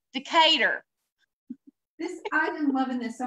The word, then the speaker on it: Decatur: don't know no uh-huh remember you pronounced it differently it was Decker Texas Decatur no this is a PE our cater to cater this item loving this